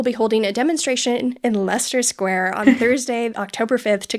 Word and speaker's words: Leicester Square: mispronounce that, and I actually knew how to pronounce Leicester Square because of the Kink song Dedicated Follower of Fashion. So, thank you. I tried to convince you it was Leicester.